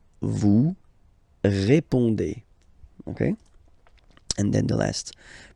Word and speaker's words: répondez: Remember, you combine these two letters, you get the sound E. So, répondez. Vous répondez. Vous répondez.